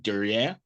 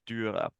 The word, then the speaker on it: Dürer: I'm going to probably butcher this, but Dürer? Is that how you pronounce it? Dürer.